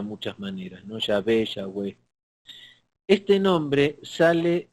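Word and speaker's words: Yahweh: de pronunciar su nombre pronunciación que usan ellos es y ave y a b o sea como si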